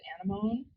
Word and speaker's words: anemone: Think about how you pronounce the word that is spelled A-N-E-M-O-N-E. When you first saw that word, being an English speaker, you might have thought it was anemone, but you know that is anemone.